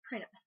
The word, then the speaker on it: Prana: This week's topic is Prana, or as I've also heard it pronounced, Prana.